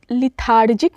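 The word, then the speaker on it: lethargic: word is लेथार्जिक लेथार्जिक इसको इसको ध्यान रखिएगा इस हम लेथार्जिक नहीं पढ़ना है हमें प्रोनाउंस करना है इट्स अ लेथार्जिक फाइन ये एडजेक्टिव है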